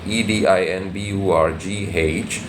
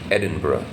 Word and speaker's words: Edinburgh: i n b r g g I'm sorry e d i n b u r g H H but the pronunciation is Ed Edinburgh Edinburgh Edinburgh he had been in the Edinburgh